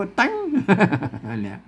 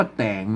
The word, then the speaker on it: แต่ง: เทียบ มา หรอก ครับ ต้อง อ่าน ว่า แต่ง นะ ครับ คน ทั่ว ไป มัน อ่าน ว่า แตง เนี่ย มัน จะ ผิด นะ ครับ พ่น เทียบ มา นะ